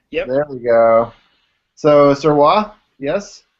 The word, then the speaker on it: Sirois: So Sirois, yes? Correct. Okay, and it's a tough day for me to pronounce things because your current employer is Misha.